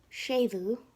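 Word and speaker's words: séimhiú: Lenition, also called shavu, that's the Irish form of the word, but it's the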